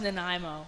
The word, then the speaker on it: Nanaimo: tell me the pronunciation of your hometown it's pronounced Nanaimo Nanaimo yep okay I always say when I'm